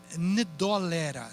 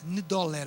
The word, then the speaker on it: Ndola: onde chegaram chamada de eh ndola ndola o n é mudo complicado para nós paraa